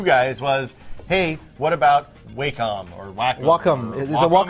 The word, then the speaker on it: Wacom: And the resounding comment from you guys was, hey, what about Wacom or Wacom?